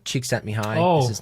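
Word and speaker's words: Csikszentmihalyi: you can see it says creativity um by cheek sent me high yeah i know that's like you pronounce it wow thank you i it took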